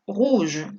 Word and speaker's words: rouge: On prononce tout de la même façon. De la misma manera vamos a pronunciarlo todo. Rouge, rouge, rouge, rouge.